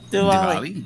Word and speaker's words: Diwali: Wait, so how do you pronounce that holiday? The other one again? Oh, Diwali.